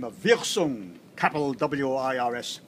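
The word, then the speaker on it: Wirsung: discovered by a German by the name of Wilson Capital w-i-r-s-u-n-g Wilson and the Italian got the little piece of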